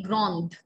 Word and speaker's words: grande: And if I want to say that she is tall, elle est grande, the sound in the end.